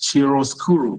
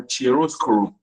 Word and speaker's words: chiaroscuro: The word there is chiaroscuro or chiaroscuro, played in the rendering process. So what is chiaroscuro?